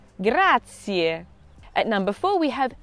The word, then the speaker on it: grazie: this means thank you remember to pronounce the ie ending every letter in the time is pronounced grazier grazier at number four we